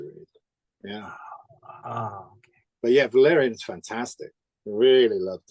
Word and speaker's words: Valerian: to read um the European season the right Valerian am I pronunciation yeah that's right yes I've always wanted